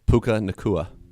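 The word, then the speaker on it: Puka Nacua: Puka Nakua.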